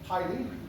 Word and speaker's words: Heidi: Heidi, se pronuncia Heidi.